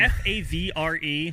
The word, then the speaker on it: Favre: easy to care for should it be pronounced fa I have no idea um f a v r e why are we saying Favre even though that is how you're supposed to say it anyway okay sorry probably